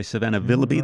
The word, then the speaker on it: Willoughby: Indiana where Savannah Willoughby, I'm going to say Savannah Willoughby, that's how you say it, defeated Yahui Zhang in a playoff.